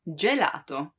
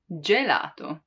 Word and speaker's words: gelato: or gustozo means tasty while with i and e the sound is soft like in gelato gelato ice cream gelato or